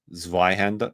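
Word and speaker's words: Zweihänder: It's pronounced viander. Zander. Is that it? Zihander.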